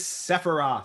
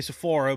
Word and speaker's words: Sephiroth: His name is Sephiroth. Sephiroth. I was gonna say Sephora, but I know that's Sephiroth.